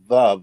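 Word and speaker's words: Veuve: write that down and move is not really pronounced boob it's pronounced Love Like Love ah yeah yeah no no that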